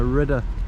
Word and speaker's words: Redoute: So, hey Beck, how's it pronounced? No, Redoute.